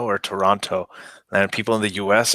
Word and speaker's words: Toronto: is telling you that the second T in Toronto is silent please correct or leave the city yeah this is one of those weird things where people say there's a Toronto or Toronto and people in the